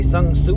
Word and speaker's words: Sun Tzu: I've read that book many times by Sun Tzu. I think that's how you pronounce the dude's name.